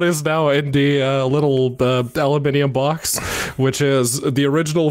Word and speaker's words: aluminium: No, I mean, it was pronounced aluminium in the thing. They had the I after the N, so... No, I'm giving you credit for saying it correctly.